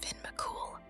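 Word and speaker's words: Fionn mac Cumhaill: be the handiwork of the giant Fon mumal pronounced Finn mul as The Story Goes Fon was challenged to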